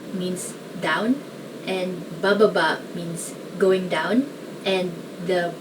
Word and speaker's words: baba: a sentence and it's just made of one syllable which is ba so it goes it means going down baba means down and bababa means going down and the ba at the